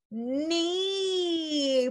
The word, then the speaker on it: knee: Even though you see that K, it's silent, my friends. It's silent. Wow, we know about the silent E rule, right? But we don't want to get tricked, okay? We don't want to get confused. The K is just silent in this word, and K-N makes it sound again.